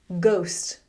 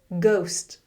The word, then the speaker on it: ghost: Ghost. Ghost.